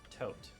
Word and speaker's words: Thoth: Fun fact, his name was most likely pronounced Tote.